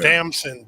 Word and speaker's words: Damson: Damson, D with a D.